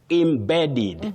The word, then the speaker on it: embedded: The first E takes that sound. The short sound e. You don't say e. Oh, embedded. Embedded not embedded.